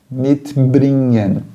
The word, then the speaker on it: mitbringen: Mitbringen. Percebe ali o NG? É melhor que você pronuncie o gen como se fosse NH do que você chamar isso aí de mitbringen.